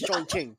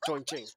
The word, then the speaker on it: Chongqing: It's Chongqing. Chongqing. That's the name. I'm not laughing at you. That's the name. Chongqing.